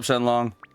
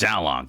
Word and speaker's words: Xiaolong: What's up, Shenlong? It's Xiaolong. You got the name wrong.